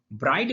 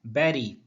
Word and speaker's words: bury: Bride means होता है दुल्हन, और ब्राइडल का अर्थ होता है दुल्हन से संबंधित। BURY को हम पढ़ते हैं बैरी। करेक्ट प्रोनाउंसिएशन है बैरी।